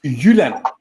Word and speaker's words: Jylland: Well, I'm glad I found out I've pronounced Jutland correctly all these years now. So yeah, in Danish it's Jylland.